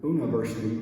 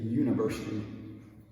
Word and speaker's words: university: So if you see U-N-I in English, it will probably be pronounced like U instead of oo. So we don't say university, we say university, universidade.